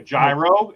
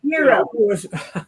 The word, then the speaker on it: gyro: A gyro, as most people would say, but it's actually pronounced Euro.